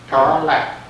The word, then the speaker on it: Tarlac: Tarlac. T-A-R-L-A-C-K or? T-A-R-L-I-C-K. I believe they Tarlac.